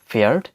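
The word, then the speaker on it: Pferd: এর পরবর্তী গ্রুপ কনসোনেন্টটি হচ্ছে পেএফ, পেএফ, যার উচ্চারণটি অনেকটা পাফ সাউন্ডের মতো, পাফ সাউন্ড। এর উদাহরণ হিসেবে আমরা নিতে পারি ফেয়ার্ড, ফেয়ার্ড, যার অর্থ হচ্ছে হর্স বা ঘোড়া।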